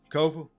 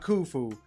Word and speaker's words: Kofi: I am your humble host, Kofi, not Kufu, not Kofi, or any variation thereof. Kofa rhymes with sofa, easy to say, easy to spell.